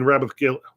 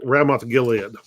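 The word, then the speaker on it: Ramoth-Gilead: they're trying to regain rabbith Gil what's the name I mispronounced the name hang on they're trying to to retake ramth Gilead which was an Israelite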